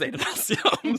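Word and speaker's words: Adonalsium: And many commenters have noted that it should be a short A because it's after Adonai, which is a perfectly intellectually consistent point of view, but Brandon says Adenalcium.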